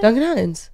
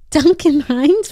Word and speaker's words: Duncan Hines: make a cake like Duncan Hines like what's so good so complicated Duncan Hines what'd you just say Duncan Hans what's that excuse me Duncan Hines what are you saying